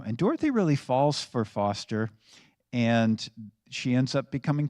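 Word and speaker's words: Forster: His name is Foster. It's spelled Forester, but his name is Foster.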